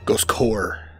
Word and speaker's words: Ghost Corps: Ghost core. You don't pronounce the S. Oh, it's silent.